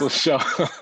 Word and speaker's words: Muscle Shoals: So from, if I say it wrong, Muscle Shoals, is that how it's pronounced? Muscle Shoals.